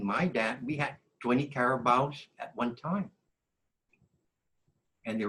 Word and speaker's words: carabao: Carabao is the carabao. I'm pronouncing it the Chamorro way.